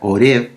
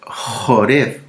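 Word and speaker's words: Horeb: monte Joreb, u Oreb, porque en las Biblias en español sale con H-O-R-E de larga, Oreb, pero en el hebreo es Joreb, porque se escribe con la letra Yet, ¿sí?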